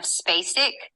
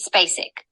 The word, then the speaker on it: Spacek: I literally was screaming when I heard your pronunciation of Spacek.